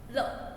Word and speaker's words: 了: This pinyin have no tone. No first tone, no second tone, no third tone, no fourth tone. No tone. So no tone, we pronounce L. It's very happy sound, very light sound.